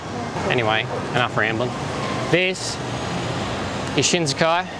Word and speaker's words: Shinsekai: enough rambling this is shinsekai it's about SI n SE ki but there's a silent H in there people say shinozuka so